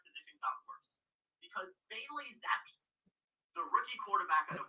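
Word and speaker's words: Zappe: Zappi, I don't even know if that's how you say his name. Bailey Zappi looking better than Aaron Rodgers through 3 quarters. Bruce says it's Zapp.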